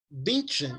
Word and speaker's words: Bündchen: Como que se pronuncia o sobrenome daquela modelo brasileira lá? Gisele, o quê? Bündchen, é?